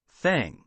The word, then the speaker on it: thank: Thank. Tank. Kiara, Number 2. number 2, let's see. Yes, that's correct. Okay, that's correct. Thank and tank. It's different.